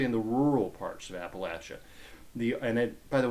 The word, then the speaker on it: Appalachia: the rural parts of Appalachia. The And it, by the way, is pronounced Appalachia, not Appalachia. It's latch.